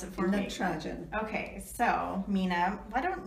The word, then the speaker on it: Natarajan: Oh, you're going to have to pronounce it for me. Natarajan.